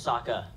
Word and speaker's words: Sokka: kids in the woods my name's Saka rhymes with waka waka go you moving she looks